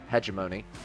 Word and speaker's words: hegemony: The hegemony rifle. Okay. Could also be pronounced hegemony. I've heard hegemony more, but that might just be the British pronunciation.